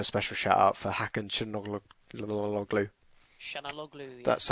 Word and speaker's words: Hakan Çalhanoğlu: But also a special shout out for Hakan Çalhanoğlu.